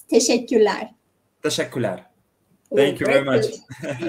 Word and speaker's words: teşekkürler: If you want to say thank you, it's teşekkürler. Teşekkürler. Thank you very much. Great pronunciation.